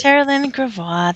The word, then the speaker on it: Taralyn Gravois: Sitting next to you, we have Taralyn Gravois, as I say the French way, at least I think I am. Hi, Taralyn. Hello. Have I got that right? How do you pronounce it? Taralyn Gravois.